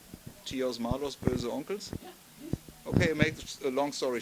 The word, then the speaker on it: Böhse Onkelz: How to pronounce the band's name? Böhse Onkelz. Böhse Onkelz.